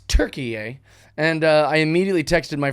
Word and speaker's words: Türkiye: Change the spelling, the pronunciation, the everything. They just changed it. So now it's Türkiye.